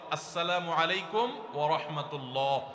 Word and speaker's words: আসসালামু আলাইকুম ওয়া রাহমাতুল্লাহ: শুদ্ধভাবে সালামের উচ্চারণ বাড়ানোর জন্য শুদ্ধ করে সালাম দিতে হবে, আসসালামু আলাইকুম ওয়া রাহমাতুল্লাহ। কয়দিন পরপর দেখবেন কতগুলা সেকুলার,